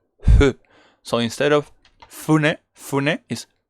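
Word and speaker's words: ふ: attention that this F, this fu, is not pronounced fu. Actually, that was part of my mistake. Sometimes I need to pay a lot of attention to the pronunciation. It's not fu, like as a Spanish guy, usually I'm like fu, and it's not fu, it's hu. So it's very slight, okay, like the H, almost voiceless.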